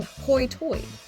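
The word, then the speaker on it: hoi toide: are called ding batters they pronounce some vows differently for example high tide became hoitoi they had their own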